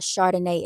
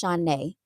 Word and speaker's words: Shauna: My name is not Chardonnay. It's Shauna.